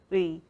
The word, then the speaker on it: 의: So 의 is ư and 이, and it's like 의. So I think if you try to speak them at the same time or like parallel, and then you will get it someday.